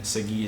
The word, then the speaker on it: Segui: My Instagram handle is at Segui, and then Segui is spelled S-E-G-U-I, but there's an extra I at the end.